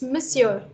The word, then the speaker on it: monsieur: struggle again for example how should you pronounce this word you're not saying because I told you it's O and O the why you know I really should be more sure but it's not it's Monsieur monsieur this should be Merry